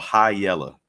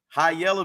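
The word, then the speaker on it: Hiyella: it's like it has two meanings high yellow because the lead vocalist sings up here so he's the high yeller and that that's how it's spelled h-i-y-e-l-l-a i love it and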